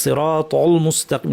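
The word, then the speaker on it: الصراط المستقيم: তল বলবো, অনেকে লামকেও ভারী করে ফেলে তল বলে ফেলেন, দেখা যায় যে তল মুস্তাকিম সব ভারী হয়ে যায়, এভাবে বলেন, ভুলটা দেখাচ্ছি। তল মুস্তাকিম, সিরাতল মুস্তাকিম না, তল মুসটা সব পাতলা।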